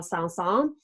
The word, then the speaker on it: Saint-Saëns: the French composer Camille Saint-Saëns. And remember, in French, you do not pronounce all of the letters.